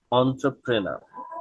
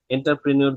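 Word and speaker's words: entrepreneur: ব্যবসায়ী এটাকে বলা হচ্ছে অন্ট্রাপ্রেনার অন্ট্রাপ্রেনার অন্ট্রাপ্রেনার এন্টারপ্রেনির বললে এটাকে কিন্তু ভুল করবে এক্সামিনা এবং আপনি আপনার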